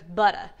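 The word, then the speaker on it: Butta: And that's how it's spelled, B-U-T-T-A, so it's butter.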